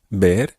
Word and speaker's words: ver: and have a look the word bear which is spelled v-e-r means to see and it's often combined with ah in the phrase now it's quite easy to get this mixed up with another word in spanish which sounds exactly the same but it's spelled h